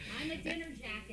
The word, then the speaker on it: Ahmadinejad: to have to say the name Ahmadinejad. I'm a dinner jacket.